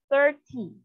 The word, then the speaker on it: thirty: So if it's tin, the stress is on the second syllable, 13. If it's ty, 30. 13.